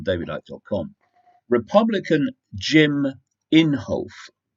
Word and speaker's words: Inhofe: this story on David Icke on Republican Jim Inhofe it's called in holf I did check the pronunciation that's what they said it was Jim